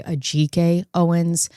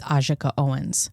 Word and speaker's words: Ajike Owens: Um, in this video, you're going to hear me say Aj Owens. The correct pronunciation of her name is Ajaka Owens.